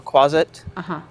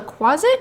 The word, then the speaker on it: quasit: this is called a closet am I pronouncing that right closet like closet but with a Q closet like how a little kid would pronounce closet um the closet um